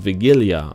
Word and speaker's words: Wigilia: So on the 24th, there's a day called Wigilia. I'm pretty sure that's how you pronounce it.